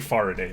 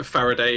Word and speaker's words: Faraday: I've been saying Faraday, but I'm not sure if that's correct. Yeah, Faraday. It's named after the scientist Faraday.